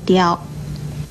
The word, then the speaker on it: 刁: 跟叨字很类似的是左边这个刁字，刁字的国语注音是的腰刁，一声刁。